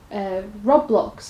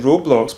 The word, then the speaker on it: Roblox: about this but Rob Rob blocks is how he pronounce it I would have said roblox but rocks for blocks it probably fate has